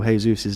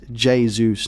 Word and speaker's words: Jesus: way I'm pronouncing Gabriel Jesus's name from Jay federa J jayus not Jesus apologies guys apologies oh